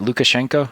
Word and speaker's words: Lukashenko: is if i say his name is it lukashenko is that correct yeah yeah when he moves